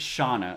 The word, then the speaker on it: Shana: So Shana said I can pronounce her name any way I want, but most people I know pronounce it Shauna. Okay. So Shauna, I got that.